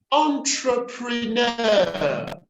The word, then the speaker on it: entrepreneur: entrepreneurs entrepreneur the accent and the primary stress is on the last syllable and then we say